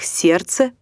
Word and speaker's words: сердце: и так сделаем вывод когда в слове встречаются сразу три или четыре согласных один из них может не произноситься так не произносятся звуки о слове солнце словах лестница окрестность до словах сердце праздник словах чувство здравствуйте буква обозначающая не произносимый